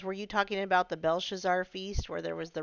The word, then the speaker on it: Belshazzar: Kinda, Brenda says, were you talking about the Belshazzar feast where there was the writing on the wall?